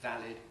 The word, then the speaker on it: valid: kind of english because in a word like valid i have a different vowel from what i have in salad salad ends in lud valid ends in lid australians typically say valor